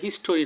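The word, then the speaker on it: history: ইনের জন্য এটা একটা preposition in our national হিস্ট্রি আমাদের জাতীয় ইতিহাসে 21শে ফেব্রুয়ারি কি একটা স্মরণীয় দিন দিন এই বানানটা হিস্ট্রি এইচ আই এস ইস টি ও আর ওয়াই এটা হিস্টরি নয় হিস্টরি বললে ভুল হবে এটা হবে হিস্ট্রি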